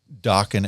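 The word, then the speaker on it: Dokken: So he just called it dockan as just kind of a placeholder. Right. Right. He's like it rhymes with rocking.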